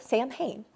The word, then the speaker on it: Samhain: It's spelled Samhain, pronounced Samhain, in which people would dress up to scare off evil spirits.